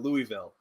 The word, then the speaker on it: Louisville: as Louisville instead of Louisville yeah because like it's Louisville oh no don't try to speak Southern we say it the French Way Louisville i i i